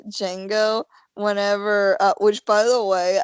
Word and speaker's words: Django: And saying to Django, and somebody The D said is silent. D is silent, motherfucker, and I was like, what?